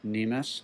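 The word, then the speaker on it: cnemis: But if you look up a word that's almost identical, and that's spelled C-N-E-M-I-S, nemus, it's pronounced the same way, it'll tell you the section of the leg from the knee to the ankle.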